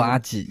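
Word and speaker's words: アジ: 接下来是竹荚鱼，日文读作阿吉，也是我的日文名。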